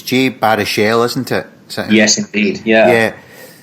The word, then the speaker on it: Jay Baruchel: So, and hopefully I pronounced his name correct, it's Jay Baruchel, isn't it?